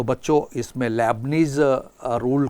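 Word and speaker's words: Leibniz: Lebanese का नियम spelling ध्यान देंगे एल ई आई बी एन आई Z Hindi में हम लेबनीज पढ़ते हैं इसको लेबनीज रूल से हम इस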